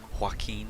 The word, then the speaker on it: Joaquin: That's how you say his name, Joaquin Phoenix.